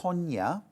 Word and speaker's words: Tone: So um uh I I think it's pronounced as Tanya, not tone.